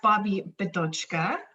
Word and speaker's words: Bobbi Bidochka: So yes, Bobbi Bidochka, and you just need to pronounce it a couple of times, and then the mouth remembers.